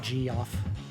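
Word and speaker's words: Geoff: version of the name g off yes i know it's just pronounced jeff but come on if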